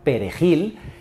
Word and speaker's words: perejil: nacionalidad era muy simple les exigía pronunciar perejil y Quienes no podían pronunciar el sonido r eran ajusticiados pues en Haití se habla un dialecto del francés y tienen serias dificultades con ese sonido y ojo que cerca